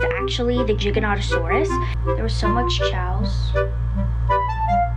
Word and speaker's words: Giganotosaurus: And also, I'm also mad because most people say say Gigantosaurus, but it's actually Giganotosaurus because I actually read the pronunciation guide.